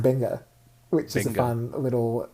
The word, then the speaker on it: venga: word which means come that's true it's actually pronounced benga which is a fun little so they don't